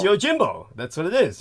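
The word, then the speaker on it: Yojimbo: uh y Jimbo yes I'm I'm sorry I'm pronouncing it wrong no it's fine it's y Jimbo that's what it is y Jimbo okay I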